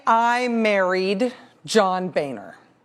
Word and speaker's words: Boehner: But if I was going to become not Rachel Ann Maddow, but rather Rachel Ann Boehner, it's pronounced Boehner, the state of Texas for a long time,